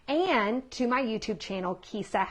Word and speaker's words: Kijsa: to my YouTube channel, Kisa, which is my name, and it's spelled Kijsa.